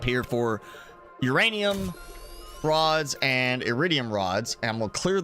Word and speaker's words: iridium: That old iridium. Iridium. That's it. That's how you say it. Everybody else is wrong. It's iridium.